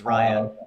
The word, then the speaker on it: Raya: She says, "My name is Raya."